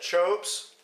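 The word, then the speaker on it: Teahupoʻo: So the contest actually takes place at Chopes, which is spelled a little bit differently than it's pronounced.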